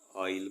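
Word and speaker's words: isle: कहते हैं इसी तरह आई एस एल ई को आइल पढ़ेंगे एस साइलेंट है और आइल जो होता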